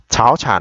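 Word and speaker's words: 早产: Tại sao chúng ta đọc là cháo chản mà chúng ta không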